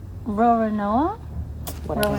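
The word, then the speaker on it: Roronoa: Roro Rona. Rorinoa. She said it right. Ror Nooa.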